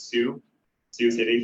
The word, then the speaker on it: Sioux City: He's from Siouxland Community Health Center in Sioux City, Iowa. Is that how you pronounce it? Sioux City, thank you for the validation.